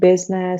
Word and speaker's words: business: ببین ما نمیگیم different برای اینکه E is a vowel after the stress syllable. ببین میگیم که vegetable، نمیگیم vegetable because there is a vowel after the stress syllable. پس یادت باشه هر جا there is a vowel after the stress syllable that vowel should be silent.